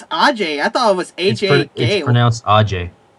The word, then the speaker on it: Ajay: and and I don't think Ajay Gali is an American name. Oh, it's Ajay.